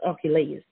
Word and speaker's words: Archelaus: Okay, so the correct way of that pronunciation of this king of Herod, this king is Archelaus.